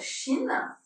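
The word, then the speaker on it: שין: Donc, c'est un shin qui se prononce ch.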